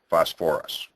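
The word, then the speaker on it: phosphorous: those strange ones again sulfate sulfite phosphate and phosphite add an extra syllable when you change them to the acid names sulfuric sulfurous phosphoric phosphorus now if I give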